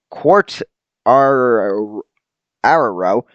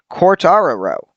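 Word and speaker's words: Quartararo: winning teammate fabio carter quartz our arrowrow cortara row that that should work it's q-u-a-r-t-a-r-a-r-o judge what you think i should how you think i should pronounce that give me corrections in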